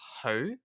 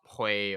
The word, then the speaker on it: Hui: Her last name is actually pronounced Hui from her Cantonese name Hui Onwa, and it's not Hui or Xu or anything like that.